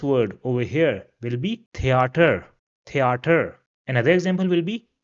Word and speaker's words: Theater: Rather, it will be pronounced as we pronounce it in the words Thursday or math. So for example, this word over here will be theater, theater.